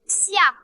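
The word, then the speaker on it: 斜: Au loin, sur la montagne froide, le sentier pierreux sinus, le caractère Xie se prononce Xia.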